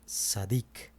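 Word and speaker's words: צדיק: Justo en hebreo se pronuncia sadic. Sadic.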